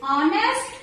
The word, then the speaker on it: honest: And then next is honest, honor, are, here. Here what is silent? H is silent.